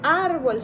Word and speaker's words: árbol: La palabra árbol se tiene que acentuar en la A, en la primera parte de la palabra, y árboles no se acentúa. En este caso sería un acento prosódico porque la misma sílaba de ar es la que le da una mayor fuerza a la propia palabra.